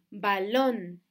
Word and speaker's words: balón: si vemos las palabras balón balón tiene el acento en la última sílaba cuántas sílabas tiene balón